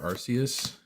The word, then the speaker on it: Arceus: As you heard, I prefer Arceus.